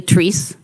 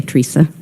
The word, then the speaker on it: Therese: It's really Therese, but a lot of people say Theresa.